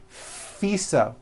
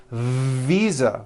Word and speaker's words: visa: her international FISA correct no I said FISA with an unvoiced F I should have said visa with a voiced V live ving I am